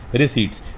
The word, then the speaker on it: receipts: रिसीट बोलते हैं इसको, पी इसमें साइलेंट होता है बेटा, RECEIPTS, रिसीट्स।